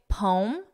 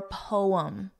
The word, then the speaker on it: poem: You can say poem, one syllable, or poem, two syllables.